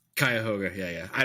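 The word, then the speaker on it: Cuyahoga: Koga is that correct kayoga yeah yeah I I don't know if that's actually correct I mean you know that's that's the common pronunciation I would say right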